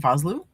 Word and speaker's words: Vosloo: Uh Arnold Voslo, I if I'm pronouncing that right. Vosloo. Vasloo and Lance Henrikson.